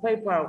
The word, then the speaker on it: paper: ở đây cái từ paper của các bạn ơ r, ơ không nhận trọng âm rơi vào chữ pay, đồng thời nó là danh từ thì trọng âm rơi vào tiết thứ nhất.